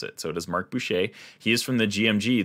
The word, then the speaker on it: Mark Boucher: name, and so I already knew how to pronounce it. So it is Mark Boucher.